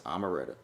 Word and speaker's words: Omeretta: I think it's Omeretta. I thought it was Omeretta. It's Omeretta.